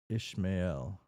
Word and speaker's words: Ishmael: Ishmail. Ishmamail. Ishmail. Ishmail sounds feels right. It's probably not though. How do you pronounce this? Ishmail. Pronunciation. Tell me internet. Ishmael. Ishmael. Okay. There's a little L in it.